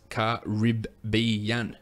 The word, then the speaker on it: Caribbean: Arnold Woodley replies back it's cariban Caribbean exactly that is how we say it that is how you say it Americans let's get rid